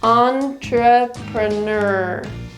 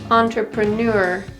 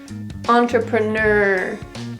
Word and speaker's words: entrepreneur: fourth syllable ner again it's the r sound that takes dominance over the other sounds in this syllable entrepreneur entrepreneur entrepreneur if you're pronouncing it the other way it would sound entrepreneur the beat or the